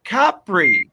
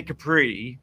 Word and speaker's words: Capri: And this one is set in Capri. Apparently that's how you say. You don't say Capri. I've always said Capri my whole life. Capri. Are they Capri pants? From the first syllable.